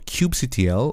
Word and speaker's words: kubectl: this command line application called Kubectl or Kubectl, as many people pronounce. And basically what Kubectl or Kubectl, which I'm going to refer as in this course, I prefer Kubectl.